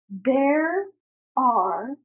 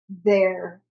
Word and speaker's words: there are: We will say, there are 10 colors. Be very careful here to pronounce both R sounds. There are. We can't say they are or they're 10. We have to say both.